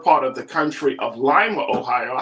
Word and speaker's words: Lima: But we actually did get our name from Lima, Peru, but we put our own pronunciation.